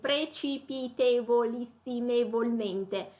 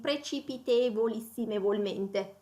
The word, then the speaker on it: precipitevolissimevolmente: long de l'italien langue donc le mot est precipitevolissimevolmente j'ai du mal aussi je dois effectivement lire ce mot pour le prononcer correctement c'est difficile donc même au niveau